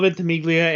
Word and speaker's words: Ventimiglia: name um milo dermatol or mine ventimiglia milo ventimiglia and then the guy who voices nathan drake